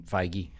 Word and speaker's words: Feige: Well, I think part of that with Marvel is Kevin Feige.